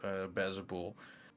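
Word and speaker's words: Baalzebul: he said to exercise Bazabul. I'm doing push-ups, Yop. Yeah. Do you pronounce it that way?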